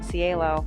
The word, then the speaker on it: CIELO: I can't remember how many years I was there, but they have a program called, it's an acronym, but the acronym is pronounced CIELO.